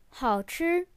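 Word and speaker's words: 好吃: 好吃, the third and first tone, means delicious or yummy.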